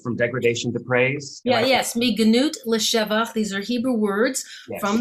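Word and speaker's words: מגנות לשבח: but you talk about, and I'm going to mispronounce this, so I need you to correct me. But the Mignat Leshavak, the from degradation to praise. Yes, Mignut Leshavach.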